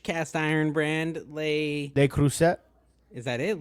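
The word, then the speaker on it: Le Creuset: say the French cast iron brand they they cruset is that it l cruset yeah oh I crush on that I say l crus so it's l cruset yeah L cruset okay I got to remember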